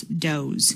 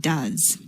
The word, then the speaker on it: does: And it is pronounced as does, not does.